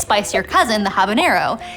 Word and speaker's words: habanero: Its spicier cousin, the habanero, is spelled with an N. Yet, you'll occasionally hear it mispronounced habanero.